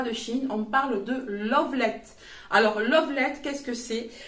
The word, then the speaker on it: Luvlette: vidéos les personnes qui présentent les produits dire Lovelet, mais moi j'ai bien eu l'information comme quoi ça se prononce Lovelet par la marque.